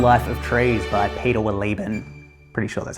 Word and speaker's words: Wohlleben: The Hidden Life of Trees by Peter Wohlleben. Pretty sure that's how you pronounce it.